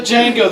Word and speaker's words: Django: To Django, the D is silent.